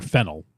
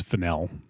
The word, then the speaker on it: Fennell: name in the past I would call her fennel like the spice or the Herb I guess but um it's fenel and so previous to